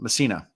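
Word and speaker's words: Mesaana: How do you pronounce her name? Um Msina.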